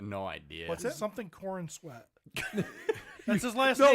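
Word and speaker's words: Corenswet: He has corn sweat. Yep, David. Oh, David. Yeah, sorry. Well, I didn't spell it right because I spelled corn sweat.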